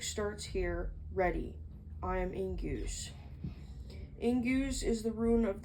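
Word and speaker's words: Ingwaz: Ingus, pronounced Ingwas, is a powerful rune of manifestation and expression of the moment of powerful centering before the manifestation is invoked.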